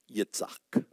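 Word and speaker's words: יצחק: and Abraham called the name of his son who was born to him whom Sarah bore to him Yitzhak that's how it's pronounced Isaac and Isaac means remember laughter laughter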